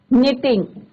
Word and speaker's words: knitting: My mother क्या आएगा बच्चों यहाँ पे, was knitting. के साइलेंट रहता है बच्चों, knitting, KNITTING, knitting. knitting. Clear? तो यहाँ पे क्या है बच्चों, K is your silent, knitting.